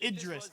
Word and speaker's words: Idris: No, what is Idris Elba? I mean, that's not how you pronounce it, but okay. It's Idris.